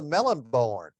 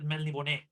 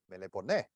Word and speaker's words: Melniboné: That's that's how it's you pronounce it. I was just constantly calling him the Melonborn. No, like, we were all born from melons. Melons. No, it's the accent. That's a Hispanic thing. So you pronounce it Melniboné.